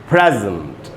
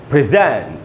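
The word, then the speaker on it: present: उच्चारण क्या होता है, जब ये नाउन और एडजेक्टिव की तरह यूज़ होगा तब इसका उच्चारण हो जाएगा दोस्तों प्रेजेंट। प्रेजेंट, यही वर्ड जब वर्ब था तो हम इसको पढ़ रहे थे प्रेजेंट, यही वर्ड जब नाउन या एडजेक्टिव तो हम इसको पढ़ रहे प्रेजेंट।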